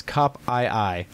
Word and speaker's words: Kopii: And then Ken says, I pronounce Kopii as Cop-I-I.